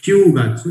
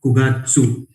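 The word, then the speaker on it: 九月: यहाँ पे भी क्यू प्रोनाउंसिएशन नहीं है, करके अलग कलर में आपको जस्ट हाईलाइट करके दिया हुआ है, क्यूगात्सु. इट्स नॉट क्यूगात्सु, इट इज कुगात्सु.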